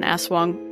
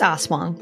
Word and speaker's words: aswang: background of what an aswang was and i apologize if i am doing a terrible job at pronouncing that because it's spelled a a-s-w-a-n-g so it looks like as wang it's uh it's osmond yeah you're right yep